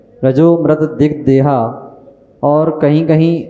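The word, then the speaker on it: रजोऽमृत: श्रावक को करना चाहिए रजा अमृत दिग देहा तो रजा और अमृत जब शब्द जोड़ा जाता है तो बन जाता है रजो मृत जैसे एक शब्द आता है स हम सोहम शुद्ध अहम शुद्ध हम तो य संधि करके रजो मृत यही उच्चारण करना चाहिए जहां पर वह गण चिन्ह आता है वहां पर साइलेंट समझा जाता है और रजु मृत जो उच्चारण है वो सही है मध्य प्रदेश से ऋषि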